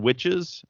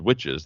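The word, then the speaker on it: Wytches: I settled on witches uh which is a an image book by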